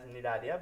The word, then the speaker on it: Cnidaria: Okay, so moving on to the third phylum, which is called as Cnidaria. Okay, the third phylum is our Cnidaria. C is silent here. Okay, it pronounced as Cnidaria, but the spelling starts with C.